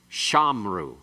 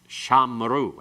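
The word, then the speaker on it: שָׁמְרוּ: Normally, it's they kept shamru. Shamru, actually. Shamru. And it's secondary accent, metheg, moving to the other accent. But if that occurs in the middle of the verse, where you have the athnak, it will change it to shamaru.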